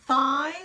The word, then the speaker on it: thigh: which is fine your thigh which is the part of your leg above your knee thigh and strength strength strength so thigh so you're putting your tongue between your teeth fie and strength strength